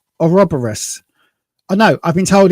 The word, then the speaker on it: Ouroboros: She's in the, now I've been told it's Ouroboros.